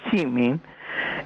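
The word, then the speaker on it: Szymin: David Seymour, que su verdadero apellido era Chimin, sí, y como se pronunciaba de una manera especial, porque era una SZY, lo que empezaba, Chimin, y se pronunciaba Chimin, él hizo ese seudónimo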